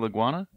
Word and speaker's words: Laguana: coral iguana leg wanna correct okay so like iguana with an L exactly exactly gotcha that's like